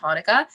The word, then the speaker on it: Hanukkah: he was just saying hanukkah and here at singapore basically they could both be spelled the same way the the chanukah thing was an older way of spelling it but it is pronounced hanukkah but um that's what